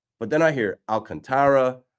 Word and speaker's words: Alcantara: I thought when I was on MLB Network, Sandy's last name is pronounced Alcantara, with an emphasis on the contra, like that part. But then I hear Alcantara, Alcantara.